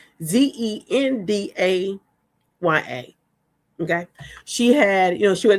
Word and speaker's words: Zendaya: Anyway, so one day they had this Oscar night, and you guys know that Zendaya, I pronounce her name, Zendaya.